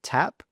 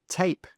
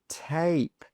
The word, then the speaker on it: tape: Now with the next one, we've got an E. So we don't say tap, we say tape, tape. So that vowel sound is a long vowel sound.